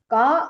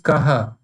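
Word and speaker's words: कः: Sir, this ko arthavan, it is ko, so you pronounce it as ka arthavan, is it? Ka arthavan. No, not ka, it is kaha.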